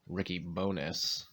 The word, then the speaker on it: Ricky Bones: It's Ricky Bones is how you pronounce that.